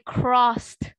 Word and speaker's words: crossed: But if it's in pronunciation, you say crossed. Jadi bukan D-nya itu nggak terbaca, tapi lebih ke T.